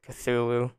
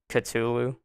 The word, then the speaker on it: Cthulhu: whatever you pronounce it i pronounce it cthulhu because that sounds that sounds more evil than katulu that just sounds dumb so cthulhu get it